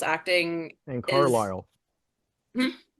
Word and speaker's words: Carlisle: so all of that, and also just like Anne Carly Siles acting And is Carlisle. hmm? Carlisle. Carlisle. Did I Yes, write it ma'am. down wrong? No, the S is silent.